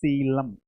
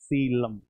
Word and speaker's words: coelom: Pronunciation is coelom. Coelom.